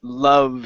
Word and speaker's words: love: go to the word love here now this is uh we're going to use our neutral sounds instead of saying la la with an a it's uh love love there you go uhhuh